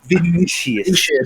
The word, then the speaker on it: Vinicius: Well, I want the actual Vincenus to come over here to Madrid. Vinicius. Well, it's about to be pronounced victory if we get that guy.